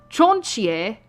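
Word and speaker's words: チョンチー: So it's Chinchou, but in Japanese it's known as Chonchie.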